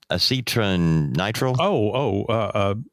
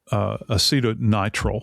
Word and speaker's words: acetonitrile: Acetronitrile? Acetonitrile.